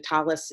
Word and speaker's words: Tallis: So, there is something called a Tallit or, that's the Hebrew pronunciation Tallis is Yiddish, it's a prayer shawl- actually have mine if you'd like to see it.